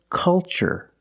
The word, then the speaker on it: culture: The first word, culture. And the second word, cultural. Also remember the first syllable is a short U, like cup and up. Make a relaxed sound. Culture, and cultural. Let's test what we've learned.